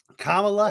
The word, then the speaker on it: Kamala: do I say so just say comma like a comma L yeah Kamala Harris today came out